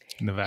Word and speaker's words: Nevada: properly but he's right Nevada is the Spanish pronunciation and because of the